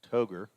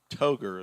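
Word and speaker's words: Toghe: hitter the d-h will t-o-g-h-e and i know the h is silent toger is what i'm gonna go with and brady ingram is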